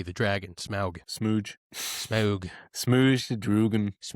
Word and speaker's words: Smaug: Smaug. S M A U G, the dragon. Smaug. Smooge.